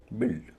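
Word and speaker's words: build: यहां यू आई का उच्चारण इ नहीं हो रहा है। मामला यह है कि यू का उच्चारण ही नहीं हो रहा। अगर यू नहीं होता तब भी उसका उच्चारण बिल्ड ही होता।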